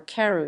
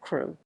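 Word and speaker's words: Crewe: difference in the name Madame Pascal pronounced it as if it were Karu instead of crew but that might be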